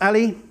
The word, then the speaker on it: a11y: that have been removed then why is it pronounced Ali Ally a11y depends on who you ask I go with Ali so in case I